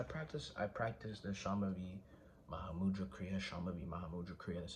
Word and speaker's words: Shambhavi Mahamudra Kriya: So I practice the Shambhavi Mahamudra Kriya, Shambhavi Mahamudra Kriya, that's how you say it.